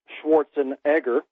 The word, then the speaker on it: Schwarzenegger: first coined the phrase by Arnold Schwarzenegger actually pronounced Schwarzenegger but the Americans can't seem to pronounce the